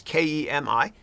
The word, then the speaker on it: Kemi: So Kemi is Kemi. Last name is, but it's pronounced.